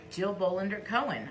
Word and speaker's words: Jill Bolander Cohen: Jill Bolander Cohen.